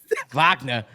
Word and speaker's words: Wagner: France Wagner game winner there in a comeback vagna oh yeah V vagna pronounce it correctly don't don't don't don't do don't